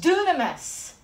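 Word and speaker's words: δύναμις: Greek word behind this is spelled d-y-n-a-m-i-s it's pronounced dunamis growing up in the Assemblies of God I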